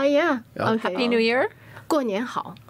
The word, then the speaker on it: 过年好: 过年好. 过年好.